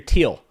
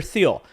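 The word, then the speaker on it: Thiel: telling me it's Peter teal Peter teal not Peter theel what the [ __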